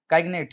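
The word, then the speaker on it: cygnet: काइग्नेट, काइग्नेट होता है, काइग्नेट, वाइस के अंदर साइलेंट है, काइग्नेट, यंग स्वान, जो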